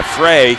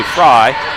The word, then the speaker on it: Frey: here's a drive by Frey he puts the ball up or I should say fry we'll have to check on that pronunciation it's f-r-e-y so I'll say Frey here's a drive by